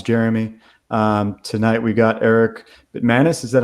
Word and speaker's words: Bitmanis: Tonight we got Erik Bitmanis. Is that how you pronounce it?